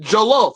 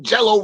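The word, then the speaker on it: jollof: your poet your poet me i said it right i said joloff i ain't saying no jello rice like god man like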